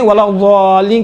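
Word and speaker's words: ولا الضالين: من الظلمات، یہ باقی دال کا ضاد کا تلفظ تھوڑا سا مشکل ہے انشاءاللہ تعالیٰ، یہ ضاد کا تھوڑا سا دقت کریں، ولا ضالین، دیکھیں ضا کہاں بعد نہ، ضا میں دیکھیں ولا ضالین کہیں گے تو کیا ہوتا ہے؟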